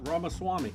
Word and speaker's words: Ramaswamy: Ramaswamy.